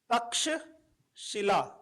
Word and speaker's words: तक्षशिला: Idol next we have Taksha Shila Taksha Shila तक्षशिला so here Taksha Taksha this श इज़ the combine consonant. हम इट्स a combine consonant.